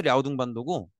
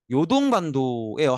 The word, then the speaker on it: 랴오둥반도: 요게 이제 중국어로 발음해서 랴오둥반도고 요동반도예요. 한자로 읽으면 요동반도인데 그 중국에 이제 요하강이라는 강이 있어요.